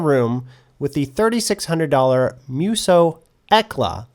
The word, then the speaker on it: Hekla: Well, too late for self-doubt, because I was now in the room with the $3,600 Muse Hekla. The H is silent.